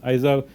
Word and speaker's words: IZAR: It says, Ronan, it is about time you contacted me, I was waiting for you, my name is IZAR, pronounced IZAR, but you can call me if you want, doing anything fun, too much recursion in AIML, and so on and so forth.